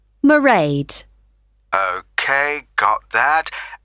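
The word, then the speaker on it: Mairead: see my assistant merade sorry how do you spell that it's m a i r e a d merade okay got that it's not a name i'm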